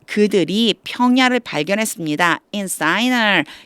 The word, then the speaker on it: Shinar: in Shinar, 읽기는 사이나라고 읽지만 시날이에요.